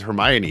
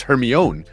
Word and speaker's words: Hermione: finally came out, he went to the movie theater and they're like, "This is Hermione." He's like, "What? It's Hermione." And in his head, he had just read it as Hermione the whole time.